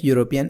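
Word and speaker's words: European: लेकिन आप इसका उच्चारण क्या कर रहे हैं? यू कर रहे हैं।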